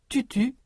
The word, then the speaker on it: tutu: Pour prononcer la voyelle de tutu, U, le bout de la langue vient appuyer contre les dents inférieures. Toutou, ou, et tutu, U.